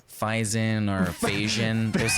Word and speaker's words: Faison: Adam Faison. Hey, Adam, how's it Am I going?